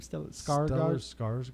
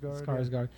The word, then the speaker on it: Skarsgård: Skarsgård? Skarsgård.